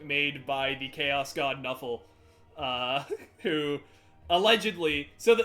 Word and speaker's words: Nuffle: by the chaos god knuffle uh who allegedly so the the bit is that they found an nfl playbook and that's just how they pronounced it knuffle uh and so